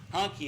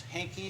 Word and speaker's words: Hankey: While the pastor is coming forward, I'll indicate that his pronunciation used to be German, and he said it was honky at one time, but now it's Hankey.